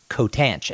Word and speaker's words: Cotanch: say your last name it's pronounced coat an coat anch and the reason I looked at that and said I'm gonna let him say it so code ranch is from Zia green